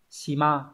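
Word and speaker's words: 島: Hòn đảo đọc là shima.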